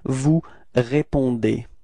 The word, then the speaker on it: vous répondez: Okay, keep in mind that combination between E and Z at the end of the verb is E, is pronounced like E. Okay, so you get this vous répondez.